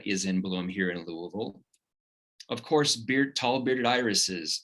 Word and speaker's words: Louisville: right now here in louisville so i wanted to start off that it is pronounced by locals as louisville however if you do say louisville um we'll probably just give you a gentle nod we'll know what town